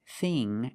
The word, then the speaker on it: thing: But with ing and ink, we use the long E sound, like green beans.